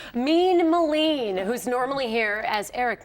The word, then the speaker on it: Melin: I hit him up on Twitter the next day, and I was like, Keith, thanks for the profile, but it's pronounced Melin. And he wrote, Melon.